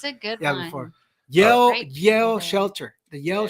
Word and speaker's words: Yale: called Yale I Street knew it was Shelter. one word. I knew it was one Yale.